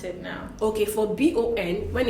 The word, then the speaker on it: bon: Okay, for B-O-N, when it's bonjour, for the B-O-N, we do not pronounce the N, really. We just nasalize and say bon, and so we say bonjour.